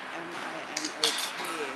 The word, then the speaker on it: Minot: It's spelled M-I-N-O-T, so going with a maybe French accent. Minot.